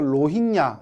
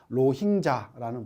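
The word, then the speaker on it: Rohingya: 우리 그 텔레비전에 뭐 나오는 것 중에 하나 TV에서 로힝야 이렇게 얘기를 하잖아요. 로힝야가 아니고 나중에 배우면 아시겠지만 로힝자라는 발음이 됩니다.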